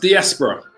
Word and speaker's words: diaspora: you can see here the term it's it's pronounced diaspora right the term diaspora right comes from an